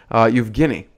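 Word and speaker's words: Евгений: We have Eugene Levin, and if you're a true Russian, you'd know how to pronounce his name, Evgeny.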